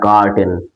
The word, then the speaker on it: curtain: আর যদি বলি CURTAIN, এই কার্টেন মানে হচ্ছে তোমার পর্দা, বুঝতে পারলে?